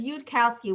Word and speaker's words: Yudkowsky: So what we do is Yudkowsky. We separate out the 3 syllables, Yud, cow, ski.